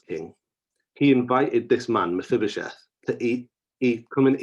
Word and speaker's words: Mephibosheth: about a man called mephibosheth if you heard me right i didn't make a mistake i said it right miss bibisheth who was the son